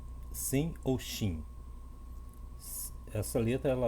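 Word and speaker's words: שׂ: Shin, Sim ou Shin. Essa letra ela leva um ponto. Se o ponto se o ponto for do lado esquerdo, é Sim. Se o ponto for do lado direito, será Shin.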